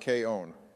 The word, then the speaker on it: K-On!: girl in K on actually Donald it's pronounced K own you've already made it